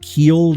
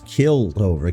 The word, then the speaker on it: keeled: Keeled over? Keeled? I always thought it was killed over.